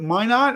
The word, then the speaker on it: Minot: Is it Minot? How you pronounce that?